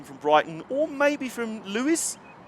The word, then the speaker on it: Lewes: I'm assuming you've probably already come from Brighton, or maybe from Lewes. Lewes, is it?